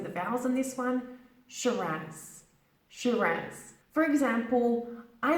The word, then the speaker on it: Shiraz: listen and repeat after me shirin's shoot rats Shiraz it's not she does don't be really emphasizing the bells on this one Shiraz she ranks for example I love drinking Shiraz